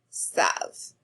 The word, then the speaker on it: savent: So we have je, sais, tu, sais, il, elle, on, sait, nous savons, vous savez, il, elle, savent. Remember, we don't pronounce that ENT.